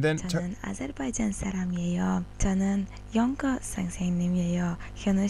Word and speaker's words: 영어: of g sound in 영어. 영어. Yeah, even though you see the word or the letters ng, and you see the G there, you do not pronounce it as G.